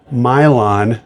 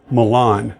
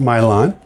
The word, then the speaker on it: Milan: Prince Albert from uh it's now pronounced Mylon not Milan thank you Ethan for squaring me away on that um Ethan parcelonious Piper let me know this pronounced Mylon um and Ethan had